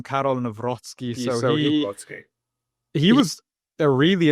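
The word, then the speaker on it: Karol Nawrocki: reelect the conservative candidate Carol Naki. Am I pronouncing that or have I horrendously butchered his name? Absolut absolutely butchered it. Um no they they elected um Carol Nozzky.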